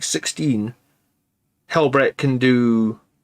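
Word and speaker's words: Helbrecht: Let me bring up Helbreck a minute, because maybe I'm saying his name wrong. I'm pretty sure it's Helbreck, right?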